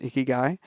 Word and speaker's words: ikigai: What in Japan they call ikigai, I think it's pronounced ikigai, which is purpose in life.